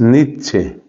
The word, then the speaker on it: Nietzsche: t Z s c h e Ese es nietche nietzsche entonces Federico nietzsche él tenía un estilo